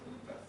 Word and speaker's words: buffet: Kata Prancis tapi baca itu buffet saya. Tidak, bukan beautiful. Buffet ya wes dulu saya belajar itu katanya bacanya buffet. Ya buffet oke lah. Soalnya diinggriskan, soalnya itu sebenarnya dari bahasa Prancis.